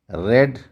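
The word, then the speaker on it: read: तो यहां पर आर ई ए डी है। स्पेलिंग प्रेजेंट में उसको रीड बोलेंगे। और पास्ट में उसी स्पेलिंग को हम रेड बोलेंगे।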